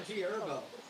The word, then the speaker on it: G Herbo: It's also G Herbo. The H is silent, bro. What? The H is silent. It's G Herbo.